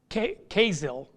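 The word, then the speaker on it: Kesil: for orion is queso casill it's it's pronounced with a z k-e-s-i-l casil which means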